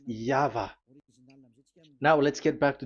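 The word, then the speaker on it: Yahweh: Pronunciation is equal V. It is V. Y H V H. So it is YAHVAH.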